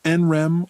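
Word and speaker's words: NREM: sleep and enr sleep which you can pronounce enr or nonre REM comes from the words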